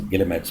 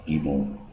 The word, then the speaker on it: guillemets: I mean, any English language speaker and a non-French person would obviously, take it, pronounce it as guillemets, but I was corrected once. And basically, these are punctuation symbols in French language, and they're used for less and greater than. And basically they're pronounced as emo.